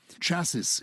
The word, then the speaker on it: chaos: for my irish accent chassis is how they sometimes say chaos in irish why do we say